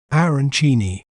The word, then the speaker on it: Arancini: We may pronounce it as arancini, arancini, run, ni, arancini.